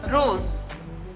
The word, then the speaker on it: rose: Rose, it is Z. Z is the pronunciation.